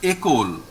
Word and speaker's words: école: There is, you see, there is this acute accent over E. So we pronounce this word as école. École. So E becomes A. Okay. Whenever this acute accent is over E, it becomes A.